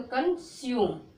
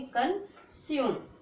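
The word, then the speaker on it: consume: यू करके, तो कंज्यूम। क्या पढ़ोगे? कंज्यूम। यू को नहीं पढ़ोगे, लास्ट में ई को उच्चारण नहीं करते, तो क्या पढ़ोगे? कंज्यूम।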